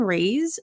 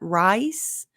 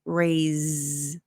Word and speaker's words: raise: just raise the bar the s in raise sounds like a z so it's not rice because that sounds like the food rice this is a ray raise raise the bar if